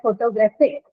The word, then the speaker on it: photographic: So if I have a word like photographic, right, I know the stress is on graph, right?